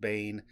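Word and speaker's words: Baen: by the same publisher which is Bane B aen I've always pronounced it Bane uh but they're huge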